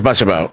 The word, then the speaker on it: Butchabo: And I was like, how is it pronounced? And he says Butchabo.